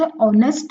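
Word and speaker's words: honest: ऑनेस्ट है। आवाज इसकी कैसे आ रही है? ऑनेस्ट। एच क्या है? साइलेंट।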